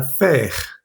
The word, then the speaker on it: faire: de este sonido es la palabra faire, hacer, o la palabra plaire, que es gustar. La A con la I suena E. Siempre que veamos la A y la I juntas en una misma sílaba, muy seguramente va a sonar E, ¿vale?